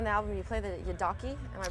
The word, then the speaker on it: yidaki: um and on the album you play the yidaki am I pronouncing itly Yi yeah and the the thing